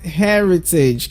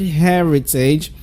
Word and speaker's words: heritage: it's already okay because that word has three syllables and it's pronounced heritage can I hear you saying that one more time so in the word heritage we have three syllables there now the syllables are Harry page can you see that let's do it together Harry page one more time amazing give